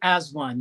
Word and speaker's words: AZ-1: a a group called az1 and that's what was how it's pronounced right it was actually as one yeah as one yeah